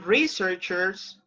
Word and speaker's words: researcher: So remember, researcher. You have the stress on the first syllable.